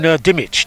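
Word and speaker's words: Dimech: And Chris, Brandon Dimich, D-I-M-E-C-H, is that the correct pronunciation?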